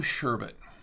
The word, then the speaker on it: sherbet: beer it's a rainbow sherbet that's how you pronounce it sh bet it's a sure bet now the question is